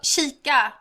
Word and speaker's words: kika: So it's cheek? No, kika.